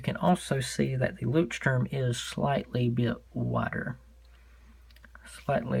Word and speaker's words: Leuchtturm: Let's see how Apple pronounces this company. Leuchtturm. Leuchtturm. One more time. Leuchtturm. Leuchtturm.